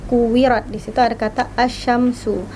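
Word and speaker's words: الشمس: Asyamsu ada alif lam terus bertemu dengan huruf shin. Di situ dia alif lam tidak dibaca, bukan idzal samsu. Susah ya membacanya ya. Jadi langsung dileburkan saja. Idza syamsu, langsung ke huruf shinnya.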